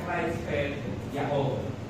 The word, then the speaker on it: Creutzfeldt-Jakob: Pero ang pronunciation niya, Creutzfeldt-Jakob disease.